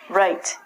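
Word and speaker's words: write: It has the exact same pronunciation as this, being your right hand. Right is what I just did here on the board. Pronunciation is the same as this. Again, we don't say the W.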